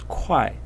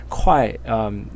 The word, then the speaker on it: 会: And when the pronunciation is kwai, and I just found out about this a moment ago when I was preparing for this presentation, kwai, this pronunciation of this character can be found in words like 会计师, which is an accountant.